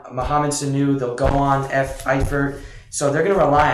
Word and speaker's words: Eifert: So Andy Dalton did lean on the new tight end, Tyler, how do you pronounce it? Eifert.